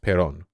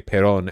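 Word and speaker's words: Perón: we're talking about peronism Accents in Spanish is show where the emphasis is uh where the emphas okay gotcha gotta okay attempted a coup against Pon that so it's so that's why I say Pon and not Pon okay yeah gotcha although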